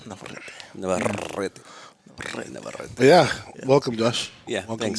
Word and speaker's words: Navarrete: It's got two R's, so there's a specific way to pronounce it. Navarrete.